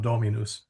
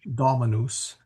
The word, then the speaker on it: Dominus: And that's because it's darn hard to hit the O, which is the is the stress vowel, and it's also short. So it's a little hard for regular Americans to sing Dominus, etc. So it usually comes out Dominus, but it is if it is spoken, it really should be Dominus, and Dominus or Domine miserere nobis or something.